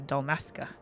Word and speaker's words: Dalmasca: Oh, I believe it's pronounced Nagshia. And Dalmasca is Dalmasca.